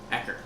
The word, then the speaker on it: Ecker: Ecker. Oh, not Eckerd. How would you spell that? E-C-K-E-R. Ecker, the mad scientist.